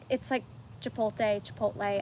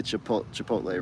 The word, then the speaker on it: Chipotle: You're reversing the T and the L.